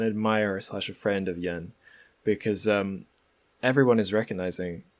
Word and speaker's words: Yan: a lamppost way halted and overcome with emotion pronounced yen the pride of hernan he said that he